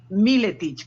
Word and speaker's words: Míletich: hispanocroata me llamo miletich que creo que se pronuncia así miletics Creo que es así como se pronuncia toma nota bien pues